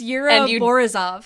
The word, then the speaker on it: Yura Borisov: Hey, you just don't want to have to pronounce the first name, and I'm calling you out on this. It's Yura Borisov.